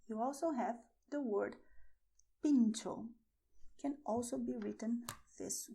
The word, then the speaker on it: pincho: This other variation is in the Basque language that is spoken in some regions in northern Spain, but the pronunciation is always the same, pincho.